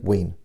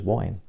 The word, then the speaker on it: Wein: of the x-men len wein whose name some people stupidly pronounced as wine he had already written